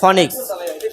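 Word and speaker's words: Phoenix: cycle সেটা হলো যে ফনিক্স ফনিক্স হ্যাঁ ফনিক্স কেউ ফনিক্স বলে কেউ ফিনিক্স বলে কিন্তু একই যার যেটা বলে আর কি অভ্যস্ত কেউ যে ফিনিক্স উচ্চারণ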